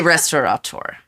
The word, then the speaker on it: restaurateur: I would say restaurateur. Okay, there you go. But according to my every aunt time I spell it, I'm correct.